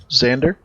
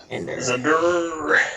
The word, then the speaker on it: Xander: Xandar. Keep saying Xandar. Xander.